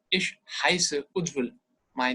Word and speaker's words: Ujjwal: You don't have to change the pronunciation or anything. Ujjwal is Ujjwal.